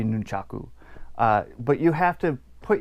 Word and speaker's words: nunchaku: pronounce and speak them hence words like Nunchuk ooh or nun numchuck it should be nunchaku but you have to